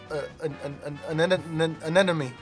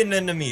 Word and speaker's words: anemone: I feel like you're pronouncing it wrong, but I know exactly what you're talking about. An enemy. I don't even know how to say it. Sea anemone. Anemone.